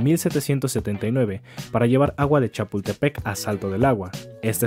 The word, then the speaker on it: Chapultepec: acueducto construido en 1779 para llevar agua de Chapultepec a salto del agua.